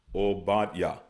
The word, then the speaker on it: Obadiah: So we have Ibadiah, which is Obadiah. Ibadiah, all right? But they pronounce it as Obadiah. Obadiah, okay?